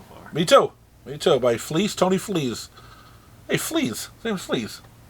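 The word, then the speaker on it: Fleecs: By Tony Flees. Hey, Flees. His name's Flees. And he writes about animals. I think it's a hard C. I think it's Fleeks.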